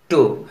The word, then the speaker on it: two: अब कुछ और वर्ड लीजिए, TWO, टू का उच्चारण टू होता है, इसमें W साइलेंट है, जरा हटाकर देखिए टू हो जाएगा TO।